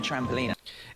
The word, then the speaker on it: trampoline: The British way places the stress on the first syllable, Trampoline. trampoline, whereas in the American pronunciation, you'll put the stress on the second part.